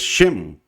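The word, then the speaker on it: שם: Luego tenemos la siguiente palabra, que también ya la hemos visto, que es Shem. Igual estamos usando la Shem. Estamos usando esta puntuación que nos hace una vocal E.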